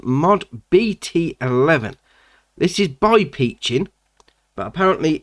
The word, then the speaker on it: Piccin: that's come into the game now this is peaching apparently that's how you pronounce it that's not how i would pronounced